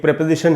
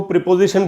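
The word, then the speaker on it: preposition: गया, उसमें इन एक प्रेपोजिशन है। अच्छा दोस्तों, प्रेपोजिशन को प्रीपोजिशन बोलते हैं अपने यहाँ, लेकिन वो सही उच्चारण नहीं है, सही उच्चारण है प्रेपोजिशन, इसीलिए मैं प्रेपोजिशन बोल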